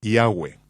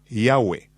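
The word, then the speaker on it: Yahweh: yo pronuncio su nombre yahwe josefo dijo que había cuatro vocales sobre la mitra del sumo sacerdote yot he B que son pronunciadas como vocales en un solo respiro yahwe yahwe en la literatura griega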